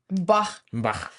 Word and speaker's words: Bach: I'm taking a course from Hillsdale about classical music and the teacher there free online course and uh the teacher there says Bach Bah.